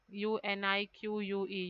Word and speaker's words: unique: is silent check and unique u n i q u e unique here also U is silent then chalk here L